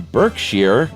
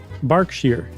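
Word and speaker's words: Berkshire: manners in a growing number of children in Burkshere, England.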